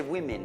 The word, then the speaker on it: women: Immagina se women aveva due i, U-I-M-I-N. Women, sarebbe women. Perfect pronunciation, ok? Non women, no, women.